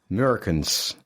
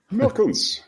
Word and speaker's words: Meurkens: And of course, the name is Dutch, and I don't speak Dutch because my mother is German, but this, if a Dutch pronounces my name, that rings a bell here. That's always nice. Meurkens. Meurkens, yes. Meurkens, yeah, Dutch right.